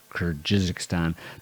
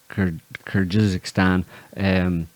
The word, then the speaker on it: Kyrgyzstan: There's the rest of the kind of stands below Kazakhstan, Uzbekistan, Kyrgyzstan, Tajikistan, Turkmenistan, and like you mentioned, Armenia.